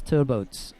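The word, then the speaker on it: Trbovc: Philip Craft of Germany i really struggled initially with the pronunciation of that name it was uh for the Slovenian and an an impossibility for me to work out how that was to be pronounced and I had to go down to the Slovenian coach at at the time and say you know how do you say that and it's turbo so there's no V in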